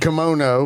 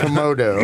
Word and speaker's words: kimono: First of all, he said kimono, which is a dress in Japan, not komodo.